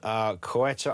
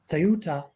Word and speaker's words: Ceuta: speaker, so tell me how it should be pronounced. Ceuta.